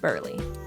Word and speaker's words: Burley: Greg and Stacy spoke about the Burly family who went to Disney with Bert's Big Adventure. It's pronounced Burley.